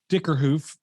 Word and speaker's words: Dickerhoof: Tyler Dickerhoof. Did I pronounce that right?